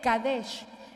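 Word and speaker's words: קדש: Ahora vea qué importante, porque más abajo tenemos otra palabra que es la palabra hebrea kadesh, que usted ve, se escribe kaudash, pero se lee kadesh.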